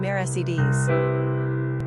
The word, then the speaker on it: Mercedes: Quick facts on Mercedes Gender, girl Origin, Latin Number of syllables, 3 Ranking popularity, 860 Pronunciation, mare seds Simple meaning, mercies Characteristics of Mercedes Intuitive, independent,